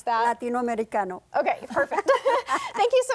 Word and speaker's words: Latinoamericano: I'm sorry, you're going to have to pronounce that. Latinoamericano.